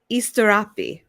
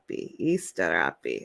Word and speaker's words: Asterope: I wanted to know how to pronounce it correct. So it's Asterope. Asterope.